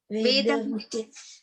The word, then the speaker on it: वेदवित्: yeah, it's just we don't pronounce it fully. It's just a little bit, just enough to know that it is there. Okay. We don't emphasize on the ta very much, because you see that